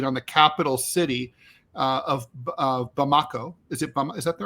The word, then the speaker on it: Bamako: There's a fuel blockade on the capital city of Bamako. Is that the right way to pronounce it? I think it's Bamako.